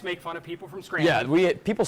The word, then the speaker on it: Scranton: I'm from Scranton, Pennsylvania. Scranton. Scranton. You don't pronounce the first T.